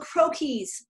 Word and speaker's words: croquis: But I've got, they're called croquis, and it's a French term, so it's a funny word.